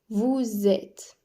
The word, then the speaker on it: vous êtes: vous êt attention ici il faut prononcer le S du vous mais en Z car il y a une liaison vous êtes ici il ne faut